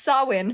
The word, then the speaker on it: Samhain: that it's pronounced champagne it is not it's pronounced sawin because celtic is a language that says [